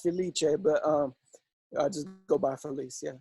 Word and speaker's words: Filice: Ayer Frank I'm gonna destroy your last name brothers at the lice police release I'm Italian it's pronounced Felicia but I just go